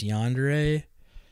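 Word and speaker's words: yandere: don't even know how to say if it's yandre yeah you are saying it correctly my favorite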